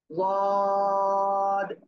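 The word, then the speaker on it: ض: আমি বলতেছি কেমন, জিহ্বার গোড়ার কিনারা উপরে মাড়ির দাঁতের গোড়ার সাথে লাগাবো, লাগিয়ে উচ্চারণ করবো। সিম্পল সিম্পল যে অবস্থায় আছেন এই অবস্থায় উচ্চারণ করতে হবে। ওয়াদ, ওয়াদ, ওয়াদ।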